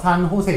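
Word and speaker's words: San José: 산호세 있죠. J 발음이 묵음이에요. 히읗 발음 나죠. 이게 저기 스페인어는요.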